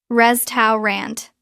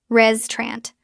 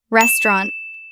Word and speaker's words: restaurant: Restow rant. Natural pronunciation. We often drop the middle sound. It becomes two syllables. Res trant. Let's try it. First sound re. Second sound trant. Together. Restaurant. Restaurant.